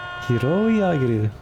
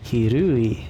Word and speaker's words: 拾い上げる: I was not saying hiroi, I was saying hirui, and I was like, it's not a U, it's an O.